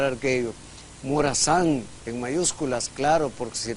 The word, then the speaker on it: Morazán: a decir arguello, lo va a tener que pronunciar arguello. Morazán, en mayúsculas, claro, porque si no le pone la tilde, el término, el apellido se vuelve Morazán.